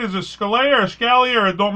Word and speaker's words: Scalia: It used to be, because I grew up here, everybody pronounced it Scalia. Yeah. And then when I started traveling, people would read it as Scalia. And after the 100th time, I decided not to correct them because they were doing the Italian pronunciation.